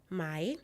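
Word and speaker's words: 买: The first character here is pronounced yifu, meaning clothing. The second, mai, means to buy.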